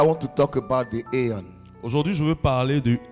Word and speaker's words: Aion: And you have to pronounce it aeon.